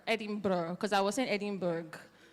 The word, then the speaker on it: Edinburgh: me how to pronounce Edinburgh Edinburgh because I was in Edinburgh so he said it's adding price like bra so let's get started